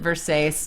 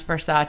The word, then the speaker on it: Versace: buys the dress and she calls it Versace not knowing it's pronounce for sa and they like go